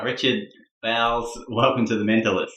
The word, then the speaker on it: Bowles: I thought it was, and it's Bowles, B-O-W-L-E-S, much like Camilla Parker Bowles, but we're not related because that could be just as bad as pronouncing it in Bowles.